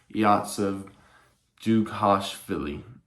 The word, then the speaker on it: Dzhugashvili: I actually just looked it up, and his name is actually pronounced, or his birth name is actually pronounced Yosef Dzhugashvili.